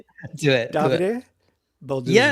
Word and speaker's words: Davide: So, it's not David. It's not Dave. These fine. Um, it's not David. But, yeah, the stress is on the A and then goes to the last E. Davide. Davide.